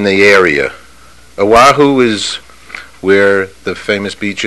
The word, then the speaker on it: Oahu: That's Oahu. Yeah. Oahu, right? That's where it is. Which course are you talking about? No, I'm just saying the area. Oahu is where the famous beach is.